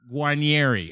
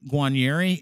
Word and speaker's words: Guarnieri: welcome mr uh john guanieri am i saying that right guanieri am i right i was perfect almost from the motherland that